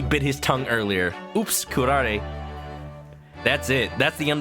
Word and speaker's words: curare: Oops, curare.